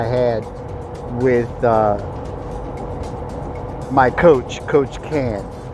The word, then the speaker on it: Can: with my coach, Coach Can. His name is spelled as it sounds, C-A-N.